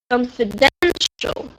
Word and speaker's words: confidential: Confidential. Okay. The difference is under stress.